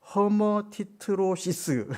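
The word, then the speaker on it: hematidrosis: 허머티트로시스 이렇게 발음을 하더라고요.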